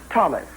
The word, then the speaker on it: Thomas: Thomas that is my name you will notice it is spelled t.o mas without the silent age but it is pronounced as it to H were silent do I make myself